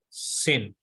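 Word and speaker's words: שׂ: the middle now now it is very important when dot is at my left hand side then it is clear sin when dot is at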